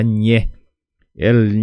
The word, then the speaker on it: ñe'ẽ: manera así y entonces vas a pronunciar la letra ñe El ñe viene del nh n portugués viene la palabra ñe Entonces sería ñe e ñe e porque tenemos el puso que divide la letra e entonces puso significa corte